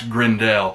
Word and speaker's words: Grendel: save his people from the villain grendel or some people pronounce grindel it's so short but